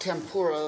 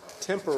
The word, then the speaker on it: tempera: Not pronounced tempura, that's Japanese food. This is tempura. Tempera.